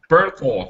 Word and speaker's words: Bernthal: Bernthal.